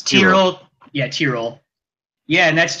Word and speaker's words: Tyrrell: Which how you pronounce it, Curly? Tyrrell. It's Tyrrell.